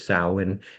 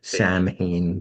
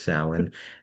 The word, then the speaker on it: Samhain: Samhain is the proper pronunciation. Some people say Samhain, but it's not, it's Samhain.